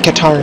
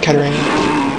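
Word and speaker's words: Katarn: goodness okay okay also apparently i've been mispronouncing kyle's name he's apparently qatar not katarina i'm honestly not surprised because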